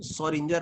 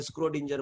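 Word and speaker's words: Schrödinger: कोई स्क्रोडिंजर बोलते हैं, कोई सोरिंजर बोलते हैं, ठीक है, जैसी जिसकी श्रद्धा अपने हिसाब से बोल डालते हैं, ठीक है, लेकिन सोरिंजर बोलते हैं, स्क्रोडिंजर बोलते हैं, ठीक है।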